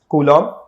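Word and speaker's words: Coulomb: यहां पर आप देखिए जो बी है इसको प्रोनाउंस नहीं करना रता इट मोस्टली प्रोनाउंस एस क लोम एल एड एम जैसे लन होता है एल एड ए वैसे ही एल एड ए कूलम okay so capital C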